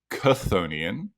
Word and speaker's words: chthonian: um I actually figured out that it is pronounced konian um because in Greek it's spelled with the